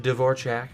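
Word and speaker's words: Dvořák: Radek Dvorak, as apparently it's pronounced, which is really weird.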